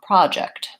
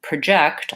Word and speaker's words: project: long and short project but if I'm using that as a verb I need to project onto the screen then it has second syllable stress so it's short and then long project and the vowel changes this letter o then says schwa project and the rest of